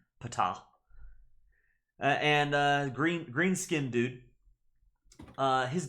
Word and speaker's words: Ptah: We have Ptah, which I'm pretty sure I was talking with the Discord server, and they say that the P is pronounced Ptah.